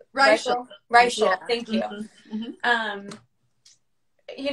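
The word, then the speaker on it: Reichl: Raquel? Reichel.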